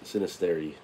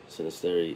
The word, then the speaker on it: Xynisteri: starts with an X it's not like xylophone so it's a sinisterity